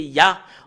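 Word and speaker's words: יה: Et le fait de lire le Yod et le He, c'est Yah en langue hébreu.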